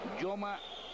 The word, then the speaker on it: Joma: Yoma Gamboa, el Yoma se escribe con J.